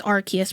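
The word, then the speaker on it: Arceus: Arcade. No, it's Arus. I know it's Archus, but I'm going to say Arus.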